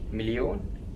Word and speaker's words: مليون: Million is the same in English, milyon, and its plural is malayin.